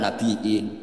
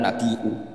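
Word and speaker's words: النبيء: Sehingga Ja'far al-Asir atau dikatakan Ja'far al-Qari bacanya ya minan nabiin, ya ayuhan nabiu.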